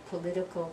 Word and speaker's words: political: to the politics politician political parties or politics politician political ok so politics first syllable politician third syllable political is the second sofa so in politics